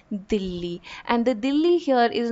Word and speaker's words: Dilli: through the novel is referred to by its mugal or by its 17th century 16th century pronunciation where he it was always called Dilly and the Dilly here